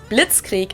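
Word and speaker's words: Blitzkrieg: actually had been used way before that we pronounce it Blitz Creek in German and it literally translates to lightning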